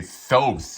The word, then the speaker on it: Thoth: Thoth, he kept on he kept on mentioning it.